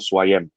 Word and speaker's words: Swayam: Your son's name is, if I pronounce his name correctly, it's called Swayam.